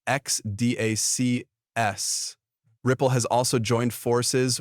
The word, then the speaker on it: XDAX: South Korea, including institutional move Ripple and XDAX, pronounced XDAC.